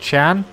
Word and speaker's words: Can: brakes I guess while we're out front we can talk about yesterday's race the finale to the